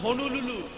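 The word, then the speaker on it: হনলুলু: উচ্চারণ ঠিক করে কর, হনুলুলু। সবগুলো ল নয়, একটা ন আছে।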